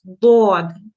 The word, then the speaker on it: ض: It's a full mouth letter, what we call, but it's pronounced dod, di in this case.